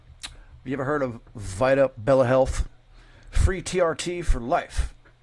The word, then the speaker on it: Vitabella: Vita Bella, excuse me, is pronounced Vita Bella.